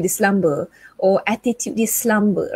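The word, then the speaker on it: selamba: So I'm going to spell it the English way, S-L-U-M-B-E-R. The Malaysian way, or is it the Malay way? S-E-L-A-M-B-A, slumber. Slumber. Even the pronunciation is slightly different.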